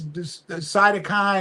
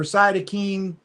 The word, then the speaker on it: cytokine: And that's cytokine or cytokine. It's pronounced both ways, storm.